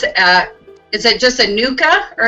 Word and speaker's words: NUCCA: is it just a nuka or is it just it's pronounced nauka yes Nuka practitioner working in